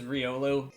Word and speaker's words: Riolu: once again with pronunciations I'm fairly sure that the official pronunciation of this is Riolu Riolu but you know what I think Riley sounds cooler so as is often